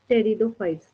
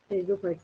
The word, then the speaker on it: Pteridophytes: चलिए अब हम लोग टेरिडोफाइट्स पे चलते हैं, ठीक है। यानी प्लांट की नेक्स्ट कैटेगरी जो है आपके पास, यहाँ पे 3 साइलेंट होते हैं, ठीक है। टेरिडोफाइट्स, इवन कि इसके जितने एग्जांपल्स आएंगे सब में 3 साइलेंट होगा।